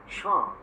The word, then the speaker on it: chant: In fact, the word chant is a French word. Okay. Which means song. Okay. In French, they say chant, and we say chant. They don't pronounce the T.